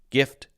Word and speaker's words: gift: so many examples like gift and give and gills and giggle and these words have the hard G sounds called the harji gift gills giggle giggle gills